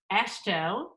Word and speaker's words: AASHTO: You've recently been elected by your peers around the country to be the president of it's AASHTO, which You said it right.